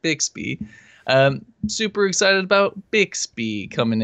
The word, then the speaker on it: Bixby: I don't want to trigger anybody with the way I say it, but I pronounce it Bixby.